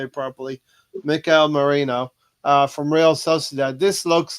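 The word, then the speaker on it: Mikel Merino: I'm going to try and say it properly Mikel Marino from real CAD this looks like a real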